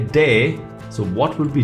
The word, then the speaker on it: D: this one is say day so what would be d because in cdb says say day d is pronounced as day like in dam if you remove m and n that's damn